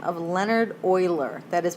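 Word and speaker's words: Euler: a Swiss mathematician by the name of Leonard Oiler that is pronounced Oiler um and this guy Oiler was sort of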